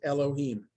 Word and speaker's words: Elohim: Yud He, Vav He, instead of pronouncing the word, both words Adonai, Adonai, the second, the Yud He, Vav He, is always pronounced Elohim.